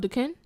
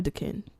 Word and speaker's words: Duquesne: between Carnegie Mellon and Duquesne, I think. Or Duquesne. Yeah. The S throws me off. Yeah. Why? I think the S is silent, though.